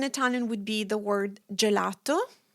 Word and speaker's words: gelato: So, if your G is placed before an I or an E, it's pronounced as the J in jam.